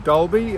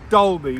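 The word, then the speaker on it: Dalby: Um, we're in Dolby, uh, which is spelled D A L, but it's pronounced Dole. And I, uh, asked Susan, how many people would be living in Dolby?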